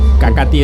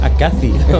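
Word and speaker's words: Acathi: Acati es A-C-A-T-H-I. Sí, que al pronunciarlo al principio, Uriel, yo pensaba, a ver si es Acaci o algo así.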